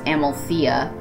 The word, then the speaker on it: Amalthea: Thea is Thea, Phobos is Phobos, Deimos is Deimos, Metis is Metis, Amaltheia is Amalthea, Thebe is Thebe, Ganymede is Ganymede, Elara is